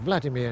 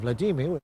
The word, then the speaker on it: Vladimir: to say the least one of the most common ones is undoubtedly Vladimir instead of Vladimir the Russian President Vladimir Putin as promised milosovich